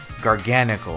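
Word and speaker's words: Garganacl: gargonacle Earth it's I guess supposed to be pronounced garganical because it's gargantuan yeah so it's organical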